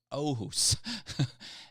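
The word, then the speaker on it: Åhus: absolute vodka from Sweden is from ohus Sweden and that's spelled with the a with the circle over top of it oh who's and uh that is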